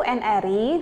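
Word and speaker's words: n-ary: Nah, relasi yang lebih umum dan menghubungkan lebih dari dua himpunan dikatakan sebagai NRI atau bacanya adalah NR.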